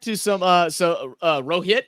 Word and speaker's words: Rohit: some uh so uh Rohit is that how you pronounce his name yes Rohit his his nickname is